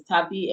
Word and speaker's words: Tapi: That Tapeta is named after a crewman Tape. Yeah. Because they pronounce it Tape, it sounds similar, but it's Tapi, and he's a Damen.